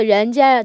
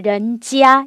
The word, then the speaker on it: 人家: 老人家, 일단 발음부터 유의하실게. 그래서 人家, 지아에 경성해 주셔야 돼요. 저 人家를 人家 이렇게 일성을 하시면 人家 하게 되면 사람이 살고 있는 집 인가가 돼요.